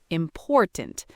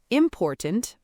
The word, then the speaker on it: important: The stress is on the second syllable, important, not important or important, important.